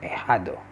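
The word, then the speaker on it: ahijado: god's son we have a hado a huddle it spells a h i j a d o so here we go again the h you pronounce it silent it's assigned it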